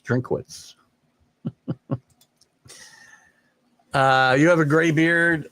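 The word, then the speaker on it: Drinkwitz: football coach, underrated in Dinkowitz. And I probably just said his name wrong. Let me fact check myself on the Missouri head coach. Am I close? Drinkowitz. I do that all the time.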